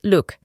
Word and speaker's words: look: El verbo mirar en inglés es to look y en presente es look. Para la pronunciación, solo reemplazamos la doble O con U.